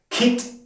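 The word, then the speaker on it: คิด: Und zu guter Letzt Kit im hohen Ton ausgesprochen, da es hier eine tote Endung gibt.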